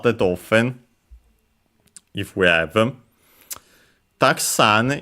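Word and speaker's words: たくさん: Taksan is an interesting word because technically it's a noun or also an adjective, which means should be accented on the last syllable, so actually on the sa, because the accent can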